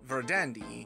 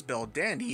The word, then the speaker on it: Verdandi: Bell Dandy is because Japan has no proper pronunciation for the V sound in Verdandi's name, so as an alternative, they use the B sound along with a few other changes to allow for the name Bell Dandy to be pronounced in the same manner as Verdandi.